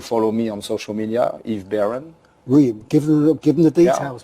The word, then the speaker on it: Yves Baron: Well, look, from the Expat Club, we can strongly recommend Yves Baron. Thank you so much. I pronounced that properly.